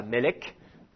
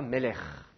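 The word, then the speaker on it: מלך: en Israël aujourd'hui on va maintenir la double prononciation donc on dira pas Abraham on dira Avraham par exemple on dira pas Melek qui est le roi on dira Melch c'est un CAF qui est en fin de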